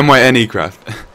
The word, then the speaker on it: MyneCraft: minecraft server spell m-y-n-e craft m-y and yeah my any craft yeah you said it right yes thank you